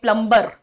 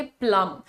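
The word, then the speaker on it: plumber: very clear like प्लंबर सो प्लंबर बोलना गलत होता है ऐसा मुझे मालूम है बट फिर भी मुझसे गलती होती है तो इसको हम बोलेंगे प्लर क्या होता है ना कि जब भी आप देखेंगे यूएम बी वाले जो वर्ड्स होते हैं जैसे कि थम जैसे कोई मूर्ख प्राणी है तो हम उसे क्या कहते हैं डम और यह वाला जो वर्ड है इसे हम कहेंगे प्लम सो यहां पर प्लंबर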